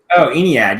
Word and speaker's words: Aeneid: Aeneid, yes.